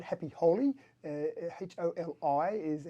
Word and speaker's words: Holi: Well, it was the Holy Mela Festival. Thank you. And that's right, Happy Holi, Holi is how it's spelled.